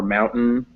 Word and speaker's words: mountain: Yeah, and in fact, most of the time you see words that end like this with an N-T-A-I-N-S, like Britain or mountain. It's pronounced like that. It's n, just mountain, Britain.